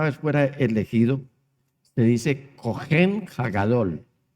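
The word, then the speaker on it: cohen: al Señor la palabra original para sacerdote es cogen se escribe c o h e n y para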